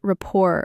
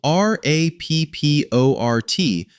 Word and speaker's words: rapport: It's spelled R A P P O R T, but the T is silent. It comes from French. To build rapport means to develop a relationship characterized by agreement, empathy, and mutual understanding.